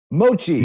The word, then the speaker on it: mochi: Mochi.